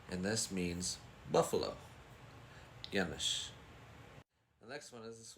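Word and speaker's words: Yanush: here and it's pronounced yanes yanes I think I hear people say Yan but it's yanish and this means Buffalo yanish the next one is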